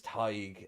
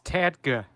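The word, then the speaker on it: Tadhg: And his name's Tig. And yeah, he does Tig. But he doesn't even pronounce the D. What's wrong with you? Yeah, it's Tadga. He didn't say it right.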